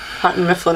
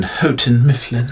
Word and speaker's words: Houghton Mifflin: for them or uh hunting mifflin until recently i'm sorry i believe you mean houghton mifflin i never i could